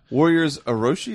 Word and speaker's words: Warriors Orochi: Warriors Orochi, is that how you say it?